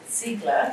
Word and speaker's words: Ziegler: Our next speaker is David Ziegler, who's also from the University of New South Wales in Sydney, but a very different area of work.